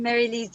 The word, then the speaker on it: Mary-Lise: Marilise, I hope I am saying your name right. So. Hello, I'm Mary-Lise. Yes, this is the right way to say it.